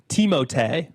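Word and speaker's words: Timothée: It's an image, but also it's actually pronounced Teimote.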